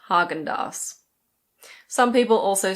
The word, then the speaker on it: Häagen-Dazs: This is pronounced Häagen-Dazs. Some people also say Häagen-Dazs.